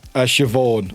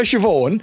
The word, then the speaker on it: Siobhan: Yeah, Shiov.